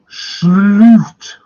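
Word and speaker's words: Slot: what I'm talking about slute that's how you pronounce his name that's how you pronounce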